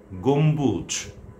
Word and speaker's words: গম্বুজ: হাম্বা নীলাম্বরী সম্বর্ধনা নিতম্ব গম্বুজ অম্বর সম্বল সম্বরণ সমবিদ ইত্যাদি। এই হলো আজকের বিষয়। আমি আবারও বলছি বিষয়টা। যদি ব অথবা ম এর সঙ্গে বফলা যুক্ত হয় তাহলে সে বফলার উচ্চারণ অবিকৃত থাকবে।